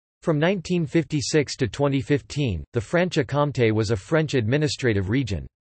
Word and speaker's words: Franche-Comté: Franche-Comté, French pronunciation, FKT, literally, free county. Franche-Comté, Franche-Comté, Arpiten, Franche-Comtat, German, Freigrafschaft, Spanish, Franco-Condado, is a cultural and historical region of eastern France.